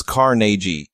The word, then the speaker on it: Carnegie: one is used to Andrew Carnegie born Scottish pronounced his name as Carnegie so you should too